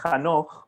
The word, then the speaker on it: Hanoch: Bueno, primero de todo, mi nombre se pronuncia Hanoch, Mario, pero me imagino no había ninguna razón que lo sepas.